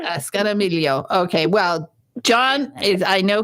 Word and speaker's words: Scognamiglio: Scognamiglio, right? Scognamiglio, yes. So I think the G is, as an Italian, I could say I think the G is silent. Scognamiglio. Scognamiglio.